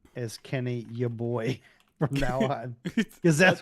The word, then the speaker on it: Yeboah: I am now going to read his name as Kenny Yeboah from now on, because that's what it looks like.